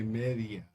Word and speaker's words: media: though let me say media media media that that's that's a Dongo in Spanish there's two there's two vowels next to each other and you have to pronounce each one in Spanish it was media media